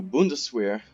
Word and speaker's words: Bundeswehr: But like I said, this does open the door for the new Bundeswehr, I think is how it's pronounced, which was the new German army after the fall of the Third Reich.